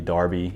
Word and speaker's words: Derby: would wear in england and they would even pronounce derby darby even though it's d-e-r-b-y and so learned a